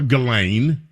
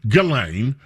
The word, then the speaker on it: Ghislaine: Well, depending on how you pronounce her name, they call her Ghislaine. I've heard it Ghislaine. I prefer to call her Ghislaine because it's spelled G-H-I-S.